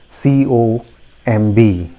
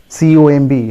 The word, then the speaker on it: comb: so here we go the next word is c-o-m-b now how do we pronounce it c-o-m-b how do you pronounce it comb yes many